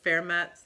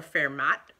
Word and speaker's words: Fermat: The next book I read, also a library book, was Fermat, if you speak French, or Fermat, if you grew up in the Midwest, going to prestigious Midwest universities, you pronounced it Fermat.